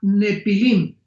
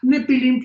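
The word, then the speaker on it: Nephilim: Muy bien, la palabra gigantes es la palabra Nepilim, con N de Nancy y PH intermedia. Nepilim se pronuncia Nefilim en el original hebreo.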